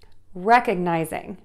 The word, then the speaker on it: recognizing: Again, syllable number one is stressed. Rec, recognizing, recognizing, recognizing.